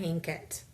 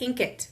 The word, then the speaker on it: Inkitt: books on Wattpad and Inkit. Okay, and I say Inkit because INKITT. Ink, like ink it, write it is what I'll think of.